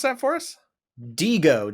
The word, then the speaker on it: Diigo: Diigo, Diigo. I don't think it's pronounced any differently.